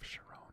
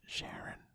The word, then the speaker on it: Charon: The same surfaces of Charon and Pluto always face each other, which is known as mutual tidal locking. Am I pronouncing that right? Is it Sharon?